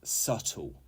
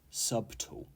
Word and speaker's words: subtle: the organization 23 is subtle subtle not subtle the B is silent and this means delicate